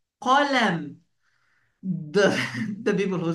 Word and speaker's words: قلم: This one, it's called قلم. قلم. The people who say are not Arabs, they said كلم. كلم. No, it's not correct. We should pronounce it the letter قاف.